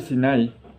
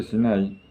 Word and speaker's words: Sinai: Porque la palabra Sinai, el monte Sinai, se pronuncia igual que la palabra Siná. Siná, que quiere decir odio, aunque se escribe diferente.